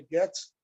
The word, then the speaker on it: Goethe: A pronúncia seria Goethe, Johann Wolfgang von Goethe, esse grande ocultista, escritor, que escreveu a sua obra-prima, o lendário Dr.